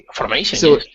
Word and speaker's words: formation: for for yes formation formation it does not mean it does we use training but that word it does exist and if follows the rule formation second to last syllable okay what about a